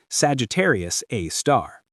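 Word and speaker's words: Sagittarius A*: They call it Sagittarius A star, pronounced Sagittarius A star.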